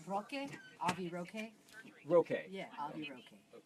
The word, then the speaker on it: Roque: It's Roque.